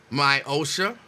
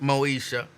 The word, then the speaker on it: Moesha: My Osha, or as it's properly pronounced, Moesha, why am I ready for the long weekend to start now?